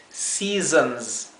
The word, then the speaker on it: seasons: pronunciar al comienzo porque la primera s es una s suave la segunda s es una s vibrada sí Sí y a la vez esta o ahí la la última vocal es en una palabra entre medio de una o y una a sí o entre una o y una e es seasons seasons sí